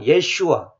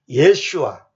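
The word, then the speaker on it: ישוע: 히브리어로는 정확하게 예슈아. 그래서 메시아 사람들이 예슈아 하지 않으면 막 다 지옥 간다고 이렇게 말하는 사람들이 있어요. 예슈아가 바로 옛 유언 구약 성경에 보면 여호수아 있죠. 여호수아가 그 예수하고 같은 발음입니다. 정확하게는 예수아.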